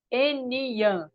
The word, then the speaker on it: Eniyan: Em Yorubá, a palavra ser humano é Eniyan. Estou Eninha. citando as Aham. suas frases. É assim que pronuncia? Eniyan? Eninha. Eninha. Enia. Isso. Enia.